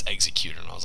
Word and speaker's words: xeQtr: Trust me, I thought it was xeQtr too, and then I asked him, and he was like, "Oh, it's xeQtr," and I was like, "Oh, that makes sense."